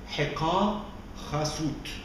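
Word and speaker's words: Heqa Khasut: When we translate the word Hyksos, we pronounce it Hika Chasut. This is the original way of pronouncing the name in the ancient language, Hika Chasut.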